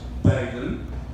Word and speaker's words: Baden: okay the correct argument the correct way of pronouncing my survey is beggin can you all say